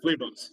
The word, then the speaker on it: Levos: Levos or Levos? You said it right. He was at the second time. Levos. But I answered to Levos.